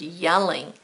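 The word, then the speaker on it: Jelling: not one over yelling it's not a J sound it's pronounced yelling a location in Denmark site of the famous yelling room stones I would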